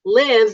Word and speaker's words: live: And then live, you just say faster.